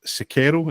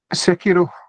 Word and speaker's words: Sekiro: Then there was an advert, I believe, for Sekiro. Is that how you say it? The Shadows Die Twice anime. Sekiro. Sekiro.